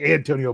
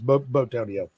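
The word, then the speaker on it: Bitonio: I keep saying, I think it's like Antonio, but it's Botonio.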